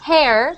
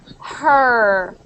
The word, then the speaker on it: her: head so that her it's actually not hair because that sounds like hair right yes you want to say her her on her on